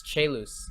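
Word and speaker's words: Caelus: different versions and like guys it's che loose it's the Latin for sky or heaven oh I didn't even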